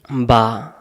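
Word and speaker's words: ب: অনেকে আমরা এই অক্ষরটাকে বে বলি, আলি বে তে সে, এরকম যারা পড়বেন তাদের উচ্চারণ সহি হবে না, ভুল হবে। তাহলে এই অক্ষরের নাম বা। এটার নাম বা।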